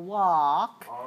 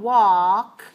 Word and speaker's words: walk: the word always but we don't always pronounce the l in every word for example walk if you look at your tongue walk you should see your